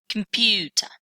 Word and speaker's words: computer: Okay, so this word contains three syllables. Compute, and a primary stress on the second one. Computer, computer.